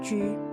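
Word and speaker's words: 車: The chariot piece in Chinese chess is pronounced as Ju.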